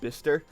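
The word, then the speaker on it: Bicester: bis bister which is spelled bice but it's pronounced bister uh and the second one was high wickum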